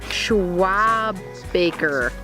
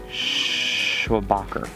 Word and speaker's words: Schwabacher: Well, no, even if I see it, I won't pronounce it correctly. Schwabaker. Schwabaker? Schwabacher.